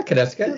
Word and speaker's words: Konieczka: Welcome, Konieczka, if I pronounced it right. Yeah, Konieczka.